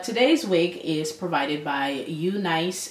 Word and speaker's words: UNice: wig is provided by you nice hair I can finally say it right or Eunice here I like you